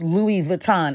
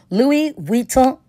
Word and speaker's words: Louis Vuitton: not how you pronounce Louis Vuitton it's pronounced Louis Vuitton the n on the end is silent it's not pronounced this shows you how